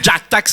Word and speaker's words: Ngiah Tax: peu compliqué à prononcer. Jack Tax. Alors, Jack Tax, mais on écrit N-J-A.